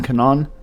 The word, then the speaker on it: Kanon: A really first fight I think you guys should really watch is Rolando Bedoya versus Kenan Song Kanon.